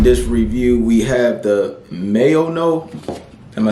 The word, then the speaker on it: MAONO: And in this review, we have the MAONO. Am I saying that right? The MAONO. Yeah, I've been pronouncing it wrong forever.